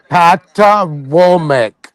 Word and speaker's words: Patawomeck: You're pronouncing it wrong. I'm gonna tell you how to pronounce it. Go ahead. Spell it. the Patawomeck. He's a Prince Hall Boule nigga. That's what The he is. fuck you saying? You want to spell it different? You say P-A or B-A? P as in Paul. P-A Potomac? Pat. No, not Potomac. Potomac.